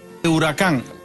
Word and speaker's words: Huracán: booter final piece can stress the a that's very important stress ta that's why the axle is there Lamborghini bhura khuang buddha can ruler can lamborghini huracan that's how you pronounce